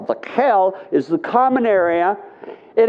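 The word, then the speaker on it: Cheil: Now, it's not H-E-L-L, okay? It is actually spelled with a C, C-H-E-I-L. The Kel is the common area.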